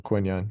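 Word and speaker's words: Quinyon: his name wrong here it's not Quinton Mitchell quinon you get it um I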